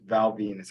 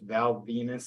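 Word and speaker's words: Val Venis: So first matchup we have, starting with Garrett, we have Hulk Hogan versus Val Venus, spelled like penis.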